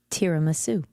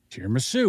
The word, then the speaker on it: tiramisu: Tiramisu. Tiramisu, which is the way I always pronounce it, too.